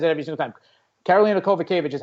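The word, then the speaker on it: Kowalkiewicz: Karolina Kovacevic is how you pronounce it, not whatever you said.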